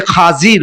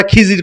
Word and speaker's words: খাজির: সে আমার মাহবুব, সে আমার বন্ধু হযরতে খাজির, বলেন না সুবহানাল্লাহ। কিতাবের মধ্যে আসছে খাজির, আমরা খিজির করে ডাকি, খিজির করলে সবাই চিনে, কিন্তু শুদ্ধ উচ্চারণ হচ্ছে হযরতে খাজির আলাইহিস সালাতু ওয়াস সালাম।